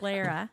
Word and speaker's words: Lara: Lara. Lara, like Sarah. Larry. Like Like Sarah, Larry. but with an L.